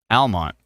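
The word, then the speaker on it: Almonte: phone did I say elonte wrong Elmont elonte elonte Almont pronounced Almont I always why is there an e why is there an e Premier Real Estate Group says Almont the E is silent why is there any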